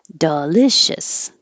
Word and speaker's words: delicious: Delicious or shus. Doesn't matter because your shis or shus will be very short.